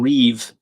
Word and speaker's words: rive: So Victor's saying Reeve.